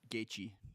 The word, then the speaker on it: Gaethje: Uh how do you pronounce his name? Justin what? Gaethje.